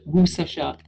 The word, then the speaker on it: Worcestershire: pronounced Worcestershire.